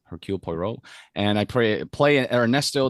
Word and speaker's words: Hercule Poirot: came out called uh her kill poirot or i i butchered that pronunciation hercule poirot and i pray play